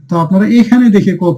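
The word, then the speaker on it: ق: এই যে কুল, একটু ধাক্কা দিয়ে উঁচু করে আওয়াজ দিয়ে ধ্বনিটা উচ্চারণ করতে। এই যে কফ।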